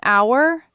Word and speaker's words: hour: An hour, a sound, because h is silent.